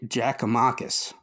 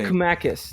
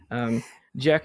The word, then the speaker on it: Giakoumakis: so it should be easy for you to pronounce. Giorgos Giakoumakis. That is incorrect. It is Giorgos I forgot how to pronounce it. Interesting. Giakoumakis. That's right. Giakoumakis.